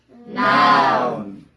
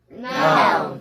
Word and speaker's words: noun: Noun. Noun. 이거는 미국 사람이 더 자신 있게 하네. 앞에 거는 미국 발음, 뒤에 건 영국 발음이에요.